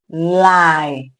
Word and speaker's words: lie: We have lie. Lie. Lie. The e is silent.